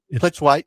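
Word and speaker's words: Plitzuweit: Dawn, I never know how to say the name, Plazuric. Plitzwhite.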